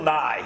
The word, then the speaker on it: Nye: day comes from Bill Nye yeah he'll not you know Bill Nye the Science Guy who is essentially famous because his name rhymes with the science guys he's not a scientist